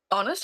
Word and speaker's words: honest: Honest has a silent letter. Yeah, the H.